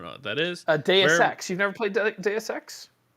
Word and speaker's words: Deus Ex: no it's it's it's deus ex as in x i don't think it's due sex i think it's deus ex as in deus ex machina i don't know how